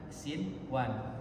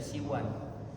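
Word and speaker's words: صنوان: Dunia, sinwan, kan sinwan tidak dibaca siwan.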